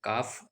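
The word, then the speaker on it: calf: एफ है last में सी एल एफ काफ L silent रहता है अ नाइफ के साइलेंट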